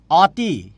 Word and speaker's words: অতি: বলি অতি সুন্দর লাগছে আমি লিখছি অ কিন্তু উচ্চারণ করছি উচ্চারণ করছি ও দিয়ে আমি বলছি তোমাকে অতি সুন্দর লাগছে ও বলছি তাই না আমি সুন্দর করে দেখি